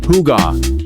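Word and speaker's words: hygge: If there is one Danish word that has conquered the world, it is higa, pronounced huga.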